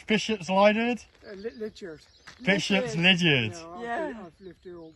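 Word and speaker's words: Bishops Lydeard: How do you pronounce Bishop's Lydiard? Lydiard. Bishop's Lydiard.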